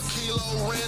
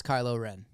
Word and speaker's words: Kylo Ren: I go to war with stars as you offer Kilo Ren. Oh yeah, you high. That's not how you pronounce Kylo Ren. He said Kilo Ren. That is incorrect.